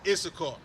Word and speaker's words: Issachar: This right here, how do you pronounce that? Where you at? Right here? Yes. That's Issachar.